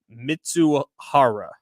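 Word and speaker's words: Mizuhara: you want the name I spelled it out phonetically it's ipe miza mitsu Hara okay mitsuhara yes so he questions arised about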